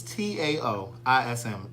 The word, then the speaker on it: Taoism: It's T-A-O-I-S-M. Taoism, but it's pronounced with a D.